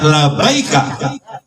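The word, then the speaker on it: لبيك: Jadi dibacanya labaika.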